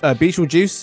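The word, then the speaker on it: Betelgeuse: walking around Earth 76,000 times no thank you beel juice is apparently how it's pronounced is also in case you guys are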